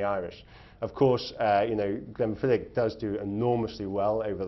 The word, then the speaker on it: Glenfiddich: Now, but the Scots don't have a holiday, so how do you sell Glenfiddich?